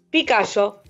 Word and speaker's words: Picallo: Primero, ¿es Picallo o Picallo en la pronunciación? Picallo.